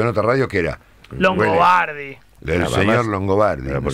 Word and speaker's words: Longobardi: ¿Me llamo Longobardi o en su defecto el modo en que muchas personas pronuncian mi apellido de manera defectuosa, pero muy simpática? ¿Cuál? Longabrini, por ejemplo.